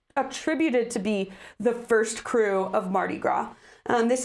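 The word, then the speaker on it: krewe: They are social clubs, social aid and pleasure clubs is sometimes what they're called, but it's called a crew, which is spelled K R E W.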